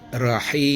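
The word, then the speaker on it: رحيم: Kemudian dia berdengung selama empat harakat, empat ketukan bisa sampai enam ya karena di wakaf ya di ujung ayat bacanya seperti begini. Rahim. Nah, hukum bacaan menyangkut ini namanya mad arid lisukun. Ya, dipanjangkan empat ketukan sampai enam ketukan.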